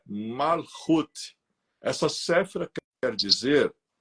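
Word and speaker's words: Malkuth: 10 que nós escrevemos o nome dela é macut mas a pronúncia é malut essa cfra quer dizer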